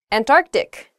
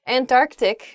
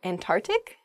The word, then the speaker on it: Antarctic: things happen to her hyperbole not hyperbole next Antarctic not ah oh I see Antarctic is the correct pronunciation of this word some people say and and tart and tart ick really oh I guess when you're saying this